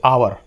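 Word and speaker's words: hour: करेंगे इसी तरह से आवर एच ओ यू आर इसको एच साइलेंट होता है इसमें हावर नहीं बोलते इसको आवर बोलते हैं आवर बोलते हैं तो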